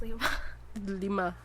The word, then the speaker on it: Lima: No, like Lima, Lima, like the lima bean. Yes. But pronounced Lima. Lima, like 5.